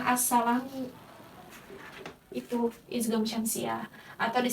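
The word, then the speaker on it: السَّلَامُ: Kalau si ini idgham syamsiah ini, assalamu silamnya tidak dibaca, bukan al-salamu melainkan assalamu.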